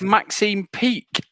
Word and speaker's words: Maxine Peake: um it's an actress it actually does rhyme with weak as well you don't know any actresses um if it wasn't if it wasn't kevin they don't wanna know it was maxine peak ah she was in